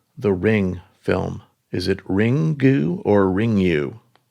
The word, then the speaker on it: Ringu: Pronounced Ring-gu.